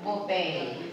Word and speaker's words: buffet: ang sulat walang binabago buffet buffet Ang spelling niyan pero pag binigkas ay bup janitor journal Pwede rin